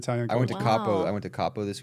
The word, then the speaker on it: Capo: went to Capo. I went to Capo this week. Have you been there? To Cabo? Capo. Capo. C-A-P-O.